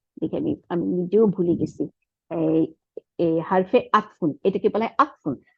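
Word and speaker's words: حَرْفُ عَطْفٍ: এটাকে বলা হয় আতফুন আইন জবর তর উপরে সুকুন ফার নিচে দুই পেশ হারফু হার এর উপরে জবর র এর উপরে সুকুন ফার উপরে পেশ একটা পেশ হারফু তারপরে আইনের উপরে জবর তর উপরে সুকুন ফার নিচে দুই জের তাহলে হারফু আতফিন এটাকে বলে হারফু আতফিন এটার ইংরেজি হচ্ছে কনজাংশন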